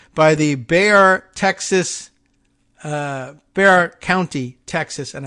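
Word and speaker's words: Bexar: the Bayer Texas uh Bear County Texas and I've learned the pronunciation now of b-e-x-a-r Bayer and they just kind of say bear basically Bear County Texas Sheriff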